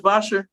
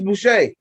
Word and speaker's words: Boucher: Chris Boshers? Or Boucher, whatever, ain't something like that? Oh, Chris Boucher. Chris Boucher. I was going to say Chris Bosher. It's spelled like that.